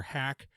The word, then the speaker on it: HAKC: this on TikTok by the user Hack. It's spelled HAKC. I think it's Hack is her full. It's dot hack is the full username, and Hack is purposely spelled incorrectly, stylistically.